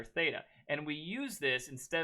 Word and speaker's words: theta: a greek letter called theta theta not theta okay this is the greek letter theta and we use this